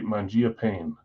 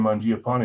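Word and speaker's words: Mangiapane: the NHL and say tell me how to pronounce Andrew this guy's name it'll say Mangia pain even though I've been calling him in my head and every time Mia Pon like you guys are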